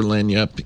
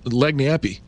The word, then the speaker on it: lagniappe: I I misspelled it uh looking looking for lanyap in uh it is here's how it's spelled it's a it's not it doesn't it's leg nappy l-a-g yeah n-i-a-p-p-e right l-a-g-n-i-a-p-p-e but it's an